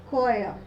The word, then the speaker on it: choir: In the second word, we pronounce with the phoneme k, choir.